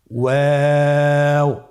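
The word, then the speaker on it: واو: আমরা স্ক্রিনে দেখতে পাচ্ছি ওয়াও হরফটি উচ্চারণের ক্ষেত্রে বারিক হবে এবং 3 আলিফ টেনে পড়তে হবে। আপনারা আমার সাথে বলুন ওয়াও ওয়াও। 2 ঠোঁট গোল করে মাঝখানে ফাঁক রেখে হরফটি উচ্চারণ করতে হবে।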